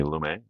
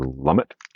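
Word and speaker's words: Lumet: right first is a a film by Sydney lumay or lummit depending on how you pronounce it all right it's running on empty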